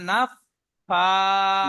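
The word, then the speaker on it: نَفَّاثَات: ومن شر নুন ফা জবর, نفا নুন ফা জবর নাফ। نف ফা نفا খা, নাফা হবে না, নাফ ফা।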